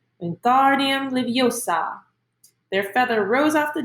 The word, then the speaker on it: Wingardium Leviosa: Wingardium Leviosa, he shouted, waving his long arms like a windmill. You're saying it wrong, Harry heard Hermione snap. It's Wingardium Leviosa, making the gar nice and long.